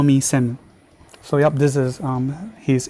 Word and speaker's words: Shem: We'll be calling him Shem, Shemu, or Shame. And yep, I prefer to call him Shame because of what he did to Mama Tiana.